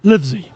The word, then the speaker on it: Livesey: Livesey.